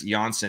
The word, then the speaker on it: Johnsson: So Andreas Johnsson, I think someone had said it's actually phonetically Johnsson, not Johnson.